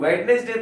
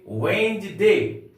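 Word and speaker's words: Wednesday: अर्थ होता है बुधवार अब तक हम लोग वेडनेसडे बोलते आ रहे थे नहीं हम लोग बोलेंगे वेंज डे वेंज डे नंबर फाइव में है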